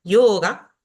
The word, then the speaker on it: yoga: La primera regla, y muy fácil, es que si una palabra tiene 2 sílabas, el acento va a recaer siempre en la primera sílaba, como en estos ejemplos que están acá. Guru, mantra, tantra, yoga.